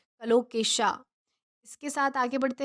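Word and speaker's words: colocasia: English में कलोकेशा कहेंगे, क्या कहेंगे, कलोकेशा, इसका प्रोनाउंसिएशन वो जो है वो है कलोकेशा।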